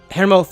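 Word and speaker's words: Hermóður: written as this, with that letter F at the end being pronounced as th, like in Nidhogg in the newest God of War game, not like Nidhogg in Final Fantasy XIV.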